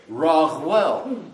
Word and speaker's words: Raguel: And that letter Ayin can be pronounced as either an A or a U or a GH. So it's more like Raguel.